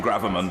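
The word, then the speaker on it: gravamen: house was captured and what Jack Straw used to call the Grove Armand of the Honourable gentleman's point I prefer the pronunciation gravimon but there you go councillor Thank You mr.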